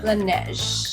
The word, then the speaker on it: Laneige: For everybody who's always wondering how to pronounce this brand, including me, it's Laneige. Or it's like Laneige. Laneige. I think it's Laneige.